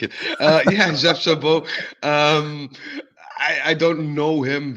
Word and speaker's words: Jeff Chabot: Stuttgart center back Jeff Chabot, I believe is the pronunciation. Yes, very good.